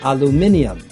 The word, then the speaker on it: aluminium: In the UK, they would say aluminium. And in the US, they would say aluminum.